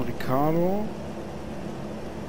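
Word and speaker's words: Ricciardo: Dann Ricardo. Das I wird nicht ausgesprochen, das zweite.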